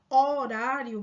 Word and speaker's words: horário: vocábulo horário percebam que quando você pronuncia horário pessoal o h ele é um som mudo não é então se você fosse